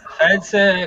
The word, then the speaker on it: Felze: Buongiorno, Elfelze comunque, Elfelze, pardon. Felze con l'accento sulla prima vocale. Sulla prima E, ho sbagliato l'accento, effettivamente è vero.